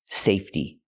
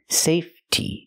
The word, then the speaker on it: safety: the word is pronounced safety it comes from the word safe and in the word safe the E is silent so when I change it to the word safety the E stays silent and we use a